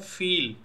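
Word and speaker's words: viel: और दूसरा एग्जाम्पल है फील, फील यानी कि मच। तो ई ए जिस भी वर्ड में आएगा उसका प्रोनाउंसिएशन होगा ई।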